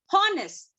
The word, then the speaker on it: honest: Honest. Honest. We don't say honest. It's honest.